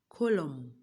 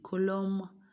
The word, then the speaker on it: column: In column, we only heard the M, not the N.